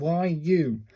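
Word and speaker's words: ゆ: And this is a YU. Pronounced like the U in universal.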